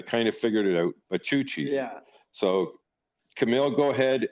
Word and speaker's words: Bachouchi: Kamil, and you say his name, but Bachouchi. Did I get that right, Kamil? You got it. You got it. Yeah, there you go. It's the spelling is but I kind of figured it out. Bachouchi.